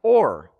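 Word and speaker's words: אור: What that is in the Hebrew, it's actually pronounced Or, or Ora. Okay, if you add a hey onto the end of it, both of those are the word for light.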